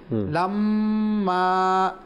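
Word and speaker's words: لَمَّا: তো এখানে মিমের উপর তাসদীদ রয়েছে, এক আলিফ গুন্না হবে, আবার মদের হরফ আলিফ রয়েছে, এক আলিফ টানো হবে। লাম্মা লাম্মা সামিউয যিকরা লাম্মা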